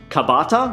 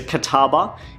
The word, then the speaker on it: kataba: got a Qatar bar which previously I have pronounced kobata which sounds more like bread this is a Catawba it is a blade